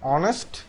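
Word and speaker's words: honest: অনেস্ট teacher তাহলে এখানে এইচ ও এন ই এস টি এটার উচ্চারণ কি অনেস্ট তাহলে এখানে এইচ কি এইচ এর মত উচ্চারিত হয়েছে না এইচ যদি এইচ এর মত উচ্চারিত হয়েছে তাহলে এটা হওয়ার কথা ছিল অনেস্ট কিন্তু এটা হয়েছে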